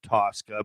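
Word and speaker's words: Tocka: band if you've ever heard of tosca it's pronounced tosca but it's t t-o-c-k-a and it's got uh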